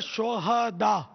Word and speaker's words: شہداء: رہی ہے، سبحان اللہ۔ یہ صحیح تلفظ ہے شہداء، صحیح، ہاں پر زبر آئے گا، شہید کی جمع ہے شہداء، شہداء، ہاں کو ساکن پڑھنا جو ہے نا، یہ اس کے معنی بدل جاتے ہیں۔ شہداء مانے لچا، بدماش،